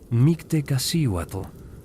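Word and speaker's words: Mictecacíhuatl: Los mejicas celebraban Mictewatle, pronunciado Mictewatle, la señora de la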